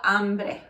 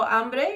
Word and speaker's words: hambre: the week, is tengo hambre. Can you say tengo hambre? Tengo hambre. Very good. Notice the H is silent when it's at the very beginning of a word.